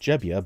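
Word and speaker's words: Gebbia: Airbnb co-founder Joe Gbia, sometimes pronounced Jebia by his inventor, has been tapped to head the new organization.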